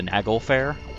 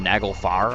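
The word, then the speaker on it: Naglfar: winded toome is like the Nagle Fair the Nagle far I think it's pronounced in Sacred Stones Lion's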